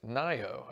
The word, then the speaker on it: Ngaio: Incidentally, Nayo is pronounced Nayo.